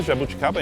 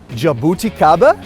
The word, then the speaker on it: jabuticaba: How do you say Jabuticaba in English, Thiago? Jabuticaba?